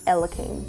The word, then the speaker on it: Elaim: All I had to do was get rid of the first I and change the pronunciation to Elim.